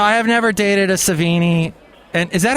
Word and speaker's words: Sevigny: Well, no, I have never dated a Savini. And is that how you say it, or Savini? Damned if I know. Okay. Well, you've led a fantastic... If I know. I mean, Sevigny is always... It's Sevigny.